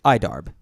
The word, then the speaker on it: IDARB: red box it it the official pronunciation of the game is idarb okay but it is